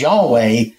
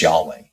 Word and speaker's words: Yahweh: the pronunciation is but it's unclear for sure what vows they used with that because ancient Hebrew didn't have vowels they just had their consonants and so since they lost that oral tradition there is there is some question about that but our best our best ball our best idea at this time is that it's Yahweh so all right so the